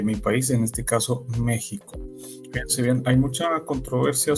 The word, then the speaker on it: México: de esa palabra es México Así es así como lo escuchan es con sh Pero por qué Sí